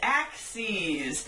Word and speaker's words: axes: any flat surface with two axes pronounced axes which is plural for one axis this is an axis